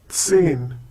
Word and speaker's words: zehn: Zehn. Once again, zehn. Hope you remember the pronunciation of Z in German. It's TS.